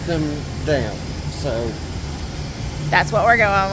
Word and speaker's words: Eurodam: So we took the Eurodam. I like to say Dom because I'm just always confused. It sounds better, but they actually pronounce them Dam.